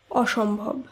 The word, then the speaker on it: অসম্ভব: বিষয়টি সহজভাবে বুঝে নেব যেমন অসম্ভব শব্দটি শুদ্ধ উচ্চারণ অসম্ভব অস্থির শব্দটি শুদ্ধ উচ্চারণ